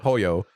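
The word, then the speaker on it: Pollo Tropical: It was Polo Tropical. Am I saying that right? Pollo. Because they also mispronounced it.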